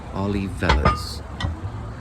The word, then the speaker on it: Olivella's: It's pronounced Olivella's.